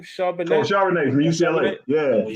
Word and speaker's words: Charbonnet: How you pronounce his last name? Charbonnet.